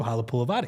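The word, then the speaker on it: Halapoulivaati: integral part of these Eagles, everybody eventually knew Halapulavati, right?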